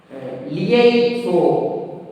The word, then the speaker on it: liaison: When single S is placed between 2 vowels, single S will be pronounced Z. So liaison, liaison, Z, liaison. Li, R-E, already I told, R-E will make this sound. So lie, and then O-N will make nasal vowel sound.